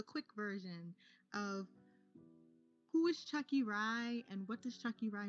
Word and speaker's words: Tsvakirai: So, it's funny because like a lot of people pronounce it Savaki because it's my name is spelled Tsvakirai. But Chucky, then rye bread.